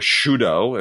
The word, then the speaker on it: Sydow: Of The Diary of Anne Frank with Max von Sydow, or Shudo, as you were supposed to pronounce it.